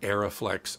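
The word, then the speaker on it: Arriflex: Well, as soon as the Alexa came out from their favorite company, Arri, Aeroflex, and by the way, it's pronounced Aeroflex and Arri.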